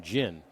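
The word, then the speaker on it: Ginn: throws you you know we have Ted genin over with the 49ers spells his name the same way but they pronounce their name jyn and they have two ends I think there should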